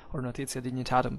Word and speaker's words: Notitia Dignitatum: As it can be seen, actually, from the Notitia Dignitatum we made, or Notitia Dignitatum by that time in ecclesiastical pronunciation, we made a video